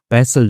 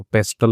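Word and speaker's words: pestle: Must be near by यानी कि आसपास ही जो है वहां पर पैसल जो है वह होना चाहिए। ठीक है? तो टी साइलेंट होता है। पैसल बोलते हैं इसको। पेस्टल नहीं बोलेंगे।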